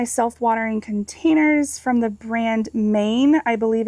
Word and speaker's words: Mayne: This is one of my self-watering containers from the brand Maine. I believe it's spelled M-A-Y-N-E, that I purchased on Amazon, and they are really great for putting on your porch next to a pillar.